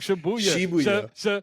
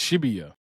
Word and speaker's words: Shibuya: I'm not saying it's spelled sh h i b u a b u y a yes so it's not shabuya it's shibia Yeah.